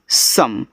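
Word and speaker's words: some: देखो इसको पढ़ते हैं सम तो स और म जब देखो ओ के बाद एक लेटर छोड़कर के इ आए तो ओ का उच्चारण ज्यादा करके हम यहां आ के रूप में करते हैं। तो जब आप बोलते हो यहां पे सम तो स में आ जाता है।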